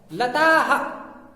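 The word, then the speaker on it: लताः: लताह, लताह, लताह, आ के साथ में आ मिल रहा है।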